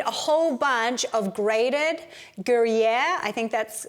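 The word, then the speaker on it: Gruyère: We're going to need a whole bunch of grated Gruyere, I think that's how it's pronounced, cheese, Gruyere cheese, which is a Swiss, kind of like a marriage between a Swiss and a Parmesan.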